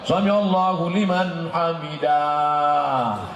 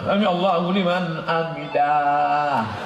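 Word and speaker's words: سمع الله لمن حمده: Ini ada yang imam ini panjang, Sami Allahu liman hamidah. Mana ada alif di situ? Kan pendek, Sami Allahu liman hamidah.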